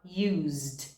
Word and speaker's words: used: O verbo use termina com o som da letra Z e Z vibra. Então você vai falar used, used.